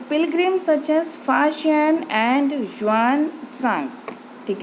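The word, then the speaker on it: Faxian: The Pilgrim such as फाशियन एंड ह्यूआनत्सांग, ठीक है ना, फाशियन यू कैन से फायन, एंड यहाँ पे शुएनज़ांग यू कैन से वानज़ांग, ठीक है, प्रोनाउंसिएशन में भी डिफर, राइट?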